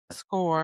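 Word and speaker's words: Skoore: I found it quite Score.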